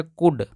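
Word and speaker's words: could: से ड हो जाएगा यहां भी एल साइलेंट है इसको पढ़ेंगे कुड कुड और यहां देखि दोस्तों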